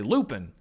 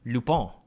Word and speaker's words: Lupin: Dummies like me would just say Lupin because, you know, I love Harry Potter and it just looks like Lupin to me.